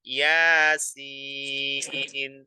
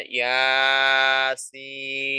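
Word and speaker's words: يس: Kemudian contoh yang keduanya yasin. Jadi jangan kita baca yasin, itu salah. Karena ya itu cuma kita baca dengan 2 harokat saja.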